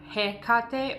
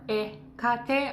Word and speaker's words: Hecate: It's either Hecate or Hecate. I'm using the Greek pronunciation.